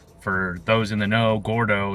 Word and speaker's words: Gourdough: For those in the know, Gourdough is Spanish for fat, but it's spelled. I think it's Gourdough, like a donut for the dough part.